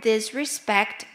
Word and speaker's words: disrespect: In the word disrespect, we can see that there are different, well, letter I sounds like the word in sit, and the second E is pronounced like the E in ten.